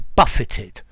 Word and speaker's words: buffet: and the aircraft was buffeted. Or if you go into a very crowded place, people push you and jostle you and shove you. That's to buffet. Notice the T is pronounced here.